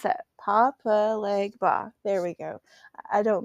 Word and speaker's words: Papa Legba: Normally I can pronounce that. Papa Legba.